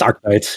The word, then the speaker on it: Arknights: from the developer of Arknights. And I know Arknights is a Arknights, game. Isn't it? Is it Arknights? I always pronounce it Arknight. I don't know if the K is like it's Arknights, yeah.